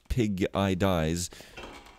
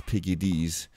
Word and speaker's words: piggidies: They're cute, especially if instead of calling them piggies, you call them piggidies, and that's not pig-eye dies. That's piggidies. So make sure you pronounce it right, or else you might be considered to be a doom metal band.